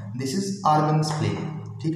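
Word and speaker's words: Argand: होता है, this is आर्गन plane. ठीक है, डी इज साइलेंट है, so this is आर्गन plane, इसको आर्गन प्लेन भी बोला जाता है बेटा।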